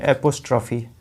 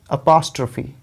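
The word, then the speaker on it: apostrophe: छठवां क्या है, हमें से बहुत सारे लोग हैं जिसको बोलते हैं एपोस्ट्रॉफी, है ना। तो दोस्तों ये एपोस्ट्रॉफी नहीं होता है, इसका जो करेक्ट उच्चारण है, देखिए ये प पे स्ट्रेस है,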